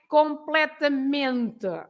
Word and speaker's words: completamente: So, so you have to say completamente. Ming is the stress.